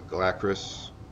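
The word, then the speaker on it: Galakras: So here the idea is we want to bring the Galacris, that's how you pronounce it, down.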